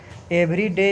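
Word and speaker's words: Eveready: तो right answer हो जाएगा ट्रॉथ सेल का, सॉरी मेरा प्रोनाउंसिएशन गलत हो गया, जो एवेरेडी, ये टॉर्च का, एवरीडे नहीं, एवेरेडी।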